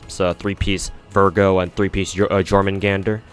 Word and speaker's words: Jormungandr: So 3-piece Virgo and 3-piece Jormungandr or Jormungandr. Pretty sure the J is silent.